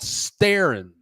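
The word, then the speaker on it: Steren: similar to Radio Shack in Mexico it's called sterin sterin that's how you say it St they're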